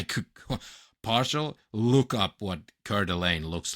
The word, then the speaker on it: Coeur d'Alene: Or also called the Coeur de I'm going trying to pronounce it French, but they call it Coeur d'Alene.